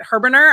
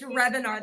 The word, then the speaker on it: Hrebenar: Is it Herbener? I've been practicing it. It's Rebinar. The H is silent.